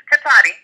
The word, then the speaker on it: Cotati: Okay, it's Cotati.